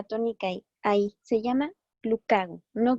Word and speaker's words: glucagón: No, no lleva acento en la O, por lo tanto, no se pone la sílaba tónica ahí. Se llama glucagón, no glucagón, ¿vale?